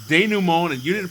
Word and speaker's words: denouement: It's denouement, and you didn't pronounce it correctly, and you never will.